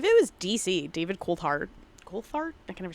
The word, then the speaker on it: Coulthard: Coulthard?